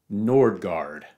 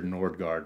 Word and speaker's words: Nordgard: It's spelled with the two A's that represent the A with the, what is this, circle? I can't remember. So the Scandinavian A with the circle that makes that O sound, like Knosgård or Tarje Vesuls or Kierkegaard.